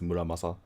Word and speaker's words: Muramasa: Muramasa, I think everyone says correctly, but if you want to say it like the cool Japanese way, it's Muramasa.